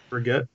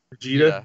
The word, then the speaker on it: Brigitte: I hate when everyone fucking says her name wrong. Brigitte. Look, that's why I always just call her fucking Brickhead. Brigitte.